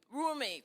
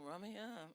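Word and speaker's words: Rumi: with and that's roomie is that room tell me pronunciation the poem roomy thank you I was saying Ry what was I thinking about roomy room me room me um you were born with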